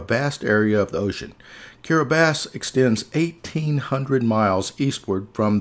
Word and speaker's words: Kiribati: certain letters for instance the letters t i actually make this s sound so the name of the country in gilberti's is carabas even though it looks like caribbean being in micronesian